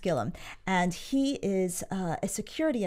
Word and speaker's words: Gilliam: T Gilliam Gilliam it's spelled Gilliam but it's pronounced Gilliam and he is a security adviser an expert